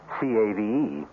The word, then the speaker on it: cave: with a latin word spelled the same way c-a-v-e but pronounced cave it means beware our cast included